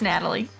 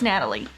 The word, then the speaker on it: Natalie: say all these names it's Natalie yeah is it Natalie yes I'm sorry spelled like that but it's Natalie okay okay yeah then